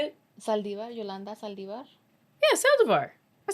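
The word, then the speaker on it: Saldívar: Saldivar, Yolanda Saldivar.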